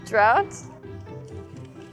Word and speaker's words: drought: So for O-U-G-H, we say ow. Yes, ow. Drought, like in the word shout.